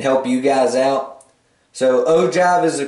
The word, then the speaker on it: ogive: it out and help you guys out so ogive is the correct way to say it the